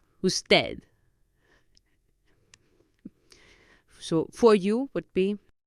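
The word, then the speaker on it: usted: you would be parad spelled us t d the D is hardly audible who dead so for you would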